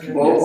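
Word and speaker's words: Bod: So, both Wybanga and Brad, and it's pronounced Bo, even though it's spelled B-O-D.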